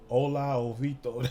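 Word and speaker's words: Hola Hovito: Or I probably done said that shit wrong. Hola Jovito. That's how you say it.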